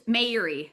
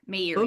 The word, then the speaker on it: Meiri: Uh, it's Meiri. May like the Meiri. month, Erie like the lake. Meiri.